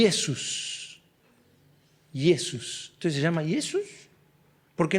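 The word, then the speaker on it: Ἰησοῦς: en griego y Jesús yesus Entonces se llama yesos porque nosotros le decimos Jesús Bueno ahí hay un cambio en el idioma en nuestro idioma cambió la J antes se pronunciaba como una Y entonces arrastró el nombre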